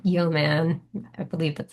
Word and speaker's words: Yeoman: So, for example, Git, if you don't have Git installed, Node.js, Neovim, um, and then finally something called Yeoman. I believe that's how it's pronounced.